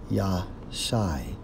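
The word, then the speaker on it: יָשַׁע: Save according to the Hebrew Strong's H3467, pronounced as Yah Shai, which means what?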